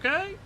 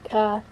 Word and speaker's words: Kai: What's up, Kay? Am I saying that right? Is it K? It is K, right? It's Kai. It's Kai.